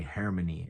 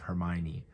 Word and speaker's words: Hermione: Even reals about Harry Potter or something will say harmony instead of Hermione.